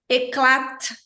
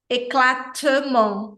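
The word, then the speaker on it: éclat: no meio termo sabe ele é um t suave eu produzo o t assim como o d no francês com a ponta da língua logo atrás dos dentes aqui da frente então é eclat eclat eclat o d também d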